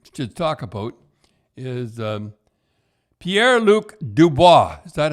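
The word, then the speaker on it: Pierre-Luc Dubois: trade we we just talk about is um pierre luke dubois is that how you say it yep yeah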